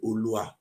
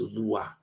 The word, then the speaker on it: Oluwa: We say Olua, but it's Oluwa.